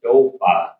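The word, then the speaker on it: topa: Four in Lakota is pronounced dopa.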